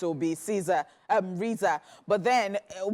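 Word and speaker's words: RZA: at her son's Monica assuming they are using the same pronunciation as the famous rap leader their son's name is pronounced Riza the couple also decided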